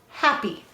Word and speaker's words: happy: Y says E only in an unstressed syllable at the end of a multi-syllable word.